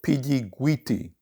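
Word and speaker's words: Pidjiguiti: location of the incident and it's called the piggy guiti massacre and i'll spell that for you p i d j i g u i t i and that massacre occurs in 1959.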